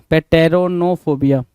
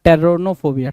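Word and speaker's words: Pteronophobia: सिक्स कह रहा है पेटो पेटेरोनोफोबिया क्या पेटेरोनोफोबिया पेटनो या टेरोनोफोबिया टेरोनो बोल लो पी को हमने साइलेंट कर दिया टेरोनोफोबिया टेरोनोफोबिया मतलब क्या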